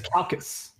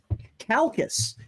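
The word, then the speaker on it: Chalcis: the city is that is that pronounced uh chalces or calces it's c-h-a-l-c-i-s all right you're on your way to to chalces oh we're waiting too while we're at it hey welcome and with us is what was it pronounced as it's calcus calcus you are on your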